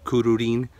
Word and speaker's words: Kururin: C ruin kin so there's two RS in there it's not kurin it's